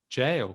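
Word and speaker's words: gaol: so you could say jail couldn't you as well you see jail how do you tell jail it depends if you're british or american so officially in britain we would spell it g-a-o-l but we do actually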